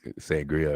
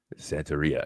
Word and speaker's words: Santeria: I think sangria or whatever. Santeria.